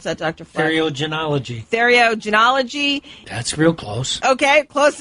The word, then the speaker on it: Theriogenology: let me see if I can say this, Theriogenology. How do you pronounce that, Dr. Fleck? Theriogenology.